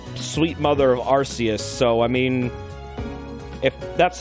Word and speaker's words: Arceus: arceus yeah they're different the british one is arceus and the american one is arceus arceus oh my